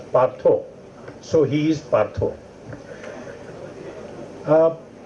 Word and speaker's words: Partha: philosophy deeply into it in Bengali parth will not be pronounced as part it will be pronounced as partho so he is partho